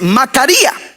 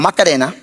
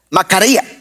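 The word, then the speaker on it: machaira: Pero aquí la palabra para espada, interesantemente, es otra, es macaría, no macarena, macaría.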